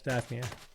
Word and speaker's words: Daphnia: Daphnia, is that how you pronounce it, Steve? Yes, Daphnia.